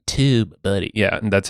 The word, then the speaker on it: TubeBuddy: andf flowchart docomo buddy tube buddy you have to say it like that tube buddy yeah and that's how